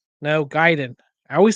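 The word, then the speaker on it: Gaiden: Ninja Gayen. No, Giden.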